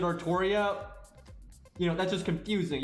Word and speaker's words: Artoria: said so i'm i'm just gonna go with artoria right that's what we've been saying this whole time since before epco that's how they want the name to be pronounced and now if you wanted to like spell it ultra now then pronounce it artoria you know that's just